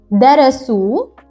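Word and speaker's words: درسوا: to pay attention that Alif follows waw at the end of the word. Thus, you don't have to pronounce it.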